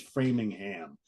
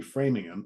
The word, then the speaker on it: Framingham: how you say it if you if you read it it's Framingham and it's probably framing him uh the brewery is